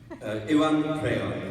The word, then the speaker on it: Iwan Rheon: Iwan Rheon is how you... There it is. We don't want to hear any other versions of it for the rest of the weekend, guys. This is how you say it.